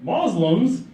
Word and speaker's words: Muslim: Because till today, every news outlet, Muslims, those Muslims, come on, man, just get this right. Muslim, it's not that hard. Muslim. 2 syllables, right? 2 syllables.